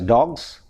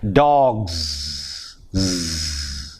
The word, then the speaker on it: dogs: In the same way, dog, the plural is D-O-G plus S, but we pronounce it as dogs, whereas the correct pronunciation is dogs. Because we don't have this Z sound in Malayalam.